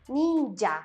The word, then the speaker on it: ninja: mi hija o niña vamos a decir ninja porque la jota se va a pronunciar como ya lo mencioné como nuestra y debido a la gran